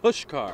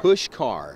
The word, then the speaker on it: Puskar: Mylan Pushkar. Pushkar. Pushkar. I don't know how you get that out of the spelling there, but it's Mylan Pushkar Stadium.